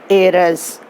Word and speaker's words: heiress: But while pronouncing, we have to say heiress.